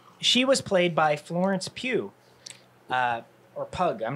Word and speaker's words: Pugh: Pugh.